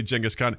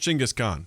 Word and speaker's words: Genghis Khan: yes i said it's like as you say genghis khan it's actually pronounced chingus khan that's how you pronounce his name [ __